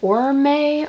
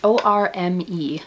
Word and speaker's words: Orme: I think her last name is pronounced Orme or Orm. Oh, it's O-R-M-E. Kristen Orme or Orme. And this is the East Nook pullover.